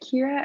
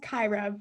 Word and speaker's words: Kyra: All right, Kira, I see you have your hand raised. Here we go. Okay, hi, sorry. It is pronounced Kyra, but great job. It's a 50-50 shot.